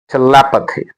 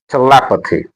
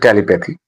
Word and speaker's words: telepathy: It should be pronounced as telepathy. telepathy Not telepathy. Uh the stress is on le.